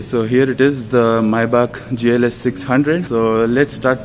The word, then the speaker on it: Maybach: You can also call it Maybach, but actual pronunciation is Maybach.